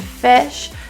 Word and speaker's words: fish: The I's in drink and fish are a lower pronunciation. So for many languages, when you see an I, we think automatically E, because that's the vowel we have in our first language.